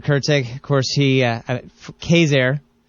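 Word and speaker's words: Quezergue: He uh Kazair. It's spelled Kurtzig, but I say, but it's pronounced Kazair.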